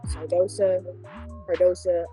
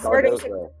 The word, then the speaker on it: Cardoso: She's real Sardosa. I know I'm saying it wrong. Their other big girl. You said It's Cardoso. Sardosa. Cardoso.